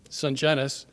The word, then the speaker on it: Sungenis: It's only three syllables. Sunennis and it's spelled just like it sounds.